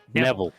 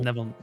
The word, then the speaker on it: Neville: Neville. Think Mr. Neville rhymes with level. Neville.